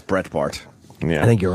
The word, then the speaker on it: Breitbart: What time is Brett Bard coming? Bart. I believe 9. I think it's Brett Bart.